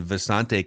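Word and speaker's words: Visanthe: Oh, I'm sorry, it was Visante Shanko, right? And then Visante came out after like his third year with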